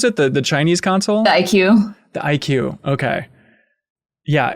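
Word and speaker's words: iQue: Is that how you pronounce it? The Chinese console? The IQ.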